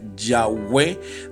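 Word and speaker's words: Yahvé: una muy mala traducción no representa exactamente la pronunciación original que sería yagüe del nombre sagrado de dios yo dije guau pues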